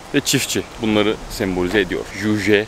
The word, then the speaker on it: Juche: Juche. Juche diye okunuyor değil mi? Juche. Juche. Juche ideolojisi.